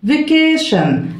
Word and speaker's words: vacation: عطلة أو أجازة vacation، vacation عندنا طبعا ال t i o n بتتنطق ايه شن، اوكي تدينا الساوند شن.